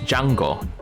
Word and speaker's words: Django: country his name is Jango to quote the Django unleashed movie and the original Django movie The Spaghetti Western the D is silent Jango Bustamante who's Nick